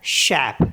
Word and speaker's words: chef: बस ये याद रखना है कि CRFL एंडिंग वर्ड्स जो होते हैं उनमें CRFL को प्रोनाउंस करते हैं, बोलते हैं, और ज़्यादातर सबको साइलेंट रखते हैं लास्ट में।